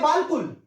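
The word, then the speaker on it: بالکل: जैसा कि हम एक लफ्ज लिखते हैं, ये हम लिखते हैं बालकुल, लेकिन पढ़ते हैं बिल्कुल।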